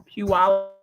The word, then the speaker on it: Puyallup: I'm not going to be able to say that word ever, but it's Puyallup, Washington.